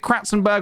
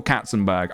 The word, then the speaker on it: Katzenberg: It's, sorry, Charlie, can you correct, is it Kratzenberg or Katzenberg? Because if I'm telling this story, I should say his name right. Katzenberg. It's Katzenberg.